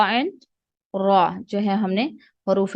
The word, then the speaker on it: ر: خا اینڈ را, خا اینڈ را جو ہے ہم نے حروف مستعلیہ میں سے پڑھے ہیں. را اینڈ خا, را خا را خا, ان کو آپ نے موٹا ہی پڑھنا ہے.